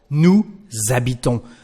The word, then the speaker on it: nous habitons: So, nous habitons. The letter S becomes the sound Z or Z.